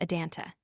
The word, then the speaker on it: Adanunta: Thus the word for soul is written with 4 letters as Adanunta, but pronounced in 3 syllables Adanta.